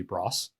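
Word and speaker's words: Broas: learned um primarily through a gentleman named billy bros uh his last name is spelled b-r-o-a-s and um he had a bunch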